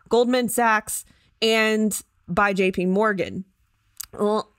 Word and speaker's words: Goldman Sachs: It also hired outside consultants, this is it, including Goldman Sachs and, is that how you pronounce it? Goldman Sachs, yeah.